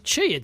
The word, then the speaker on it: Qi: I wasn't even close Qi is pronounced Chi I'm guessing that's from